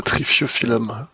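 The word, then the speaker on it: Triphyophyllum: Alors là, pour la pour la prononciation, ça va être drôle. Donc c'est le trifiophilum peltatum. Ça c'est ça trifiophilum.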